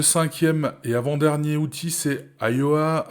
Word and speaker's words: Ayoa: Le cinquième et avant-dernier outil, c'est Ayoa. Ayoa, c'est s'écrit A-Y-O-A.